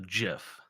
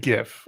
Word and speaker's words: GIF: of the jif pronunciation i think i said gif i think that's what i say because that's correct gif yeah because it's it's like a gif it's graphic interchange format graphic jiff jif the peanut butter is pronounced jiff gif is gif is there is there a word where the g makes a a j sound i don't know well